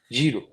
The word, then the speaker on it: gyro: Dev thank you know how to pronounce gyro correctly jro we got them here